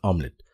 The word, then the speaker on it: UMLet: tool called omelet uml it's pronounced as omelet I pick this tool